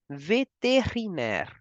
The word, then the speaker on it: vétérinaire: We say veterinary doctor in French as vétérinaire. We can divide this word as ve, te, ri, ner.